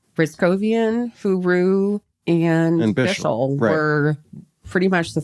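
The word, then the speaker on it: Hyry: was replaced by R2 huru huru which is a fun name to say it is his last name is spelled h y r y but it's pronounced huru yeah we saw him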